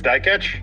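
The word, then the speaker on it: Dikeç: to Olympic silver silver medalist youf I can't pronounce that last name die catch it's die catch yeah die catch yeah there there there's the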